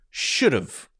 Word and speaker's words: should've: so that would be s-h-o-u-l-d apostrophe v-e that's pronounced should've so if you listen to that carefully should